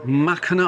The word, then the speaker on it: Mackinac: Good morning and welcome to Machina Island with a silent sea, isn't it?